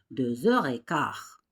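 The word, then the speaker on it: deux heures: 2h 15 minutes, ça se prononce 2h15. 2h30 se prononce 2h30. On fait bien sûr la liaison 2h. 2h 2h. C'est la lettre X mais ça se prononce z.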